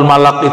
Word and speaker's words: ملك: Jadi yang pas bacanya malak, ya.